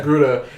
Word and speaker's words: Togruta: But it was like two Blaxican chicks with this fucking this Torgruda, is that how it's Togruta, pronounced? Yeah, yeah. Togruta.